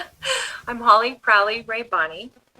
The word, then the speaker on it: Rabanne: I'm Holly Crowley Rabanne. Ray And yes, Bonnie. Rabanne. Okay.